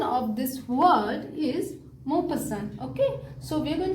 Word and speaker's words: Maupassant: pass the ant, okay, so Mau is a name, pass what, ant, so that will make it a Mau pass ant, okay.